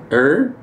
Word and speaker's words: send her: So send Sender, Sender, S-E-N-D-E-R, is pronounced the same way. S-E-N-D, send, and then her, H-E-R, send her. But we don't really say send her, we say sender.